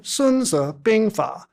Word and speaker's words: Sunzi Bingfa: Rather, Sununza Binga uh the title as pronounced in modern Mandarin is more accurately translated